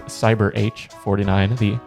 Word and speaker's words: Cyberh49: It is Cyberh49. The H is silent, but which I really like that.